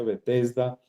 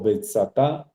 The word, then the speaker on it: Betesda: no es importante sino betesda se pronun pronuncia betesda o betsat igual en la misma piscina